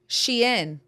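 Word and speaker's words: Shein: Shien. Yeah, people pronounce it both ways. Sheen and Shien.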